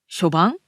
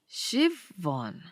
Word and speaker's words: Siobhan: Yeah, often in Irish, the B and the H come together to make a V sound.